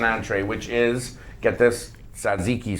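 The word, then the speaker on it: tzatziki: which is get this Ziqi sauce I said it right commonly referred to as gyro sauce your sauce oh I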